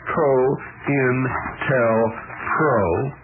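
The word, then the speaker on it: COINTELPRO: United States the name that term co-intel Pro pronounced Co inel Pro is a contraction of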